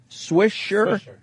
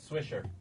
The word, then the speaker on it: Swisher: Swisher. Huh? Swisser. Swisher. That's how you pronounce it.